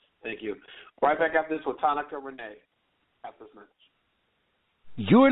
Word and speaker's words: Tanyka: It's Tanyka. Tanyka, I'm sorry, it's spelled yes.